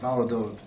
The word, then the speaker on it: Valladolid: How do you pronounce it? Was it there? Valladolid.